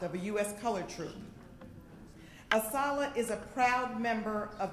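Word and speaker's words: ASALH: is our honor and we refer to ourselves as a solid that's how we pronounce our acronym to be asked to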